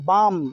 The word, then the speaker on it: balm: फिर BALM बाम, इसको बलम मत पढ़ना, बलम, ठीक है, बलम जी, देखिए बाम है, BALM बाम, बाम में क्या होगा, M के पहले L आया तो L साइलेंट है। BALM बाल्म नहीं पढ़ेंगे, काल्म नहीं पढ़ेंगे, ठीक है, इसको बोलेंगे बाम, काम।